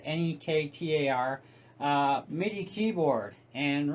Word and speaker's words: Nektar: So we got this Nektar, I guess you'd pronounce it, Nektar, MIDI keyboard.